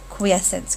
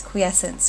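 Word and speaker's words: quiescence: state called quesence and make sure you're able to pronounce that so I'll say it again quesence quesence quesence and this looks an awful lot like the word quiet as it should because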